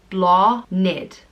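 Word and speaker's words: Bláthnaid: how Sinead is pronounced the next name is blonde it and it means blossom and flower it's pronounced law NIT blonde it it's spelt BL a th naid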